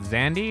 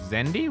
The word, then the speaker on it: Zendi: You didn't misspell that. It's not Zandi. It's Zendi. Really?